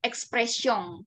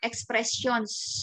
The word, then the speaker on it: expressions: Endi belakang seperti ini Express song ya kalau kita baca sebelum belajar bahasa Perancis misalkan ia dibaca aja nih m sama esnya misalkan expressions gitu ya tapi kalau kita udah belajar bahasa Perancis tentu akan beda ocara bacanya lele ya karena dia